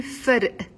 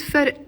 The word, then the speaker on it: فرق: So on its own, the word فرق is a one-syllable word. The qaf is pronounced as a okay? On its own, I'm saying فرق. We're adding a just to make it easier to pronounce.